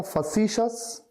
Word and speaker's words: facetious: FACETIOUS, इसको मैंने कैसे प्रोनाउंस किया था अगर आपको याद हो तो? इसको कहा था फसीशस, और इसको रिलेट किया